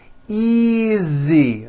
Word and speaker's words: easy: Easy. Again, the S is like a voiced Z.